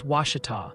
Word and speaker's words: Washita: Oh, and the chat's pronunciation committee has ruled. Washita is Washita.